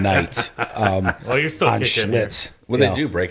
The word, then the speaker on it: Schlitz: There's a reason it's called schlitz because it rhymes with shits.